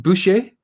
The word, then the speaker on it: Boucher: pronounced your surname wrong bushe is how you pronounce your surname yeah yeah yeah but